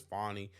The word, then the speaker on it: Fanny: Fanny like I said I understand that her name is fonny but guess what her name is spelled Fanny it's not spell fonny I'm sorry so guess what Fanny sounds funnier anyway so